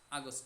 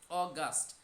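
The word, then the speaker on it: August: এইফরোল মেয় June July আগস্ট আগস্ট না অগস্ট September October November December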